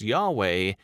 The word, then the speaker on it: Yahweh: as lord all caps the hebrew on the other hand is pronounced yahweh and is based on